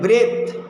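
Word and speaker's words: breathe: তারপরে দেখো আমি আবার বলি ব্রেথ, ব্রেথ হচ্ছে নাউন থ, আর ব্রিথ হচ্ছে ভার্ব। দ যোগ হলে ব্রিথ উচ্চারণ হবে, ব্রিথ।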